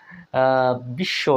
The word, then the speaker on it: বিশ্ব: মানে বিশ্বজগত তাই না বিশ্ব এখানে দেখুন তালবস ডাবল হয়ে গেল কিন্তু বচ্চারণ হচ্ছে না তন্নি এখানে দেখুন ন